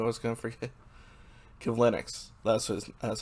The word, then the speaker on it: Kivlenieks: Kivlenieks. That's how you pronounce it.